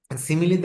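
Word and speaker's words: simile: খেয়াল রাখবেন একটা হচ্ছে সিমিলি আরেকটা হচ্ছে মেটাফোর অনেকেই সিমিলি বলে না সিমাইল বলে এস আই এম আই এল ই তো আমি বলি যে সিমিলি বললেই বানানটা মনে থাকবে সহজে তো মেটাফোর আর সিমিলি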